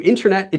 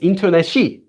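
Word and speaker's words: 인터넷이: If you add the subject marker E to internet, it doesn't become interneti, it's interneshi.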